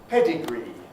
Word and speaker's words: pedigree: weak that's the point pedigree has a strong e at the end mimicry has the weak